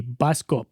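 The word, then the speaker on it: Bioskop: Uh, and I'm pronouncing it like that because it's spelled like that. B I O S K O P. Biscop.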